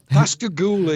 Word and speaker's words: Pascagoula: Pascagoula, yes. Pascagoula. It's actually a name that was of the area by the indigenous Indians that used to live there.